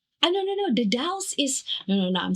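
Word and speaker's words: The Dalles: in Eugene in the Dallas and then the Dallas the Dallas. Dallas. Where is that? The D. It's spelled as uh the the and then Dallas. D A L L E S.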